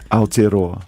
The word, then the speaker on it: Aotearoa: Can you pronounce it again? Aotearoa.